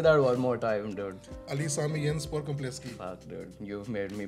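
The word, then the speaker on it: Ali Sami Yen Spor Kompleksi: So Neff Stadium, also called Ali Sami Yenspor Kompleski, is on my list. I really like the fact that you learned the Turkish pronunciation also of it.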